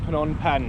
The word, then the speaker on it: Phnom Penh: So, we're in Phnom Penh now.